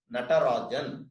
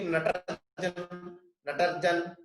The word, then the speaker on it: Natarajan: They will not bother to find out how to pronounce his name and pronounce it as Natarajan. That is how it should be pronounced. They will be like Natarjan.